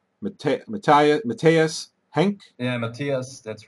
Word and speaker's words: Matthias: Yeah, Matthias, that's right, yeah.